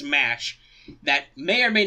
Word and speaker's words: Mash: about this about coz in Japan her name is said ma shoot which if you know anything about Japanese pronunciations you could totally see them saying Matt you like that but um given the official the official Roman the official North American ization the official English translation is mash that may or may